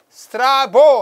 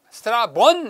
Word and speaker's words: 스트라본: 그 다음에 스트라보 하는데요. 스트라본 해야 돼요. n 붙어야 돼요.